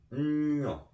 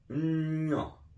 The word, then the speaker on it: nwiɔ: The way you say that in Nzema is Nwiɔ. Nwiɔ.